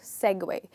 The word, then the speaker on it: segue: the other part smoothly that's called segway and it's a verb so it could also be segwayed so let me give